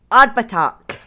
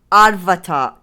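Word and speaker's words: Abhartach: So, Arbatak or Arvatak tag. Two different pronunciations.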